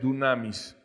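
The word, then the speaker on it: δύναμις: Y esa palabra poder en el idioma que fue escrita esta parte de la Biblia, que fue griego, es una palabra que pronunciada en español es dunamis.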